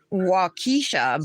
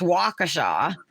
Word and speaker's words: Waukesha: This one looks like it's Waukesha, but it's Waukesha.